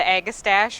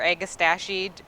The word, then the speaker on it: agastache: we could get it this is the agastache or a gestation depending on how you pronounce it this is meant to